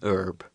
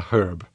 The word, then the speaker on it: herb: example for this actually I think you would not say an herb I personally would say a herb a herb okay I'd